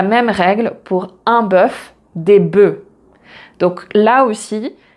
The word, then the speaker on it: bœufs: règle pour un bœuf, des bœufs. Donc là aussi, la prononciation change et on ne prononce pas le F. Donc un œuf, des œufs, un bœuf, des bœufs.